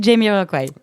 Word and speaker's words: Jamiroquai: Parce que ça se dit Jamiroquai. Ouais, je m'en Mais doutais, mais j'aime bien prononcer les choses à la française. À la française. Sachant qu'ils ne sont pas français, donc c'est bien Jamiroquai.